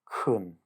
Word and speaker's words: chun: Well, the next part of it is kun, which, because it's pronounced like the ch in look instead of